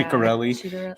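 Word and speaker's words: Ciattarelli: Ciccarelli, is that how we say his name? Yeah, Ciccarelli.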